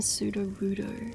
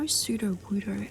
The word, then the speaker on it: Sudowoodo: Because I know Sudowoodo as in pseudoscience, right?